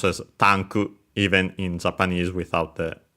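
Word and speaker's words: タンク: could be pronounced as tanku even in Japanese without the with the barely heard if at all because the preceding consonant is unvoiced and it's at the end of the word.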